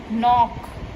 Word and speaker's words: knock: Knock. Over here K is silent, it can be knock out.